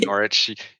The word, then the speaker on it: Norwich: you're a graduate of Norwich I'm hoping I'm pronouncing that correctly there's no no W in there right so norch University Arts um but I'm